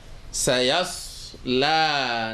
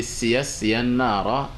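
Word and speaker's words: سيصلى: Au lieu de Siya Nara, dites plutôt Sayasla.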